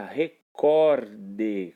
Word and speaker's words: recorde: Diferentemente dessa palavrinha que vocês visualizam aí agora, que é a palavrinha recorde, cuja sílaba tônica é o cor e não o ré. Se fosse recorde, teria acentuação gráfica na sílaba ré, seria uma palavra proparoxítona.